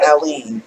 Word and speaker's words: Alyeen: I couldn't pronounce her name for the longest. I was calling her everything but Alyeen. And so if you remember Dolly Parton and the White Stripes have a song called Jolene.